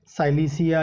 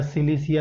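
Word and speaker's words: Silicea: और लास्ट में आता है साइलिसिया या सिलिसिया, जो आप प्रोनाउंस करना चाहते हैं।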